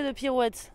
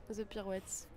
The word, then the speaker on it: The Pirouettes: The Pirouettes. Quelle est la pire prononciation que vous ayez entendue? Ce qui est très énervant, c'est quand les gens oublient le S, genre The Pirouette.